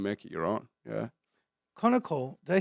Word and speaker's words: Konnakol: Konnakol, did I say that correctly? Konnakol, yeah, exact pronunciation, yeah.